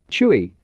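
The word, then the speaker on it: 吹: Chui, pronounced like chui with a forceful exhale, which is associated with the kidneys.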